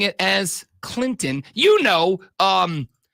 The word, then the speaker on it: Clinton: in Orangeburg and yes that's Clinton pronounced with no T Lonzo called him to